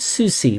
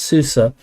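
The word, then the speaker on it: SUSE: Center and buy um this he called it Susie but uh I now know the correct pronunciation is Susa but why don't you go buy it it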